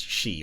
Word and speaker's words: Sidhe: Because the word Beansidhe turned into the English word Banshee. So I think it was pronounced Banshee. So I think Sidhe is pronounced she, or possibly Shihi with like an apostrophe in the middle.